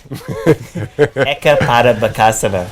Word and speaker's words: Eka Pada Bakasana: Ekapada Bakasana.